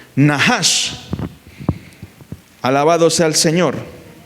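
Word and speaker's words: נָחָשׁ: Moisés hace la serpiente que en hebreo se escribe o se pronuncia nahash. Esa es es así se escribe o se pronuncia en hebreo la palabra serpiente o víbora, nahash.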